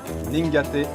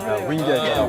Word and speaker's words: Wingate: Ningaté pour. Ah, c'est un W. Wingate.